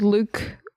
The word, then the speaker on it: Luc: So, our director is a man called Luke Besson. probably sounds better in French because he is French and it's spelled L U C Luke.